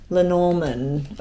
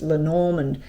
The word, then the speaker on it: Lenormand: We'll start with the Lenormand or Lenormand. I'm just looking at the way it's spelt on the book and it's Lenormand.